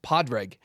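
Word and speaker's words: Pádraig: I'm like, the whole point is it's Saint Padraig, which is Padraig.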